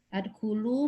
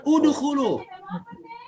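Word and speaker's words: ادخلوا: Wa idz qulna dkhulu hadhil qaryata wa idz qulna, dan ingatlah ketika kami berfirman adkhulu, masuk. Bu, itu bacanya udkhulu.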